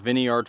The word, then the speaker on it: Viniard: all right all right so we moved into Vineyard field now I've also heard this field pronounced Vineyard field but we are in